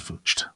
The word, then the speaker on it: Vlugt: van der Vlug, Vlug pronounced as Vlucht.